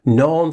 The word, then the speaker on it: Norns: Norns in Norse mythology is pronounced exactly like norms, with an N instead of an M.